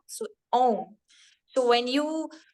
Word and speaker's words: Om: So when you speak Om, Om is actually amalgamation of three small letters, that is A, U, and Ma. So Om.